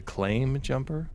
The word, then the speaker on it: Claim Jumper: you spell that restaurant I think it's you spell it like claim like you an insurance claim like oh someone rear ended my car in the Chili's parking lot so I need to file a claim so it's not Clam